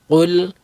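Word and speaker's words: قُلْ: Qul and kul. Qul means say. Kul means eat. So if you pronounce kaf as a qaf or qaf as a kaf, you're going to change the meaning, right?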